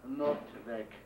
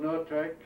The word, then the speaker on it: Noordwijk: help from Bob van Noordwijk. Noordwijk is spelled N-O-O-R-D-W-I-K. Actually, it's a Dutch I-J.